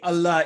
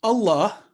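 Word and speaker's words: الله: Remember that lamul jalala in Allah, letter lam is divine word of Allah, is always pronounced with thick or heavy sound if preceded with a letter carrying fatha or dhamma.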